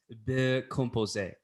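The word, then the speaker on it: composé: it happen really fancy the french term is composer excellent and i like that but the accent is on the e and by the way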